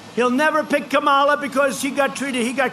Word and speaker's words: Kamala: You know, if you pronounce her name wrong, she goes crazy. Kamala, like a comma.